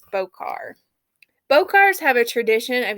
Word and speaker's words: Bokor: I hope I'm pronouncing that right. It's spelled Bokor. My dialect sometimes causes me to mispronounce things, and for that I apologize. But I would say it's Bokar.